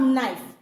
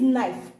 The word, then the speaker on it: knife: like this knife okay you have knife and in this knife K is totally silent.